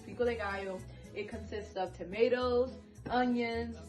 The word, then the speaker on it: pico de gallo: It's pico de gallo.